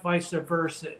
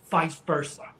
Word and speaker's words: vice versa: richard you're embarrassing yourself it's not vice versa it's vice versa you know like just two syllables instead of i go vice versa